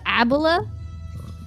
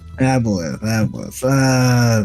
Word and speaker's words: aboleth: Do you have Abola? Aboleth. The fuck is that? Oh, It's a fish. It's spelled like that, by the way.